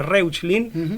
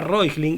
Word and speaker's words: Reuchlin: discípulo de Johannes Reuchlin, que se escribe Reuchlin, se lo pronunciaría así en castellano, que ellos decían, ¿por